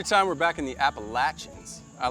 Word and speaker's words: Appalachian: Every time we're back in the Appalachians, I like to take a deep breath and take it all in. Nice. Going with the local pronunciation.